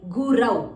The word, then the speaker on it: gurau: Hare Gurau. It's not a guru, it's a gurau.